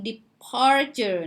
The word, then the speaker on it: departure: departure นะคะเน้นที่ part แปลว่าวันเวลาที่เดินทางออกจากต้นทางการออก leaving Okay.